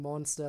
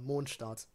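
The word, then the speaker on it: Mondstadt: german names in uh genjin and how they're pronounced because technically now i'm kind of going along with it and calling monster well monsters but it's pretty far off from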